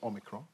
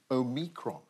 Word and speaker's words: omicron: part five the comeback omicron is that how you say it yeah well the bbc pronunciation unit says it's omicron mary beard classic scholar of course says it should be omicron that's mary bjorn some